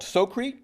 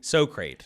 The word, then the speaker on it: SoCrate: SoCrate. Yeah. SoCrate. It's Socrates, but SoCrate. It actually comes from the whole Bill and Ted's Excellent Adventure, where they're like SoCrate because they don't know how to pronounce Socrates.